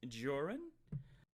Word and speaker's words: Jorrun: i do my my name is joran rhymes with orr and ron which is what you